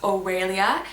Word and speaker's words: Aurelia: Amelia alternative I have is oh really this is a Latin name that means golden I absolutely love that this is also pronounced o'er alia and there is a